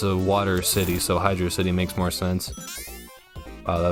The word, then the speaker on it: Hydrocity: sometimes there isn't and fans like to argue on what the zone's proper pronunciation is i personally fall on the side thinking that hydro city is the proper way to address this zone i guess hydrocity it sounds cooler but it's a water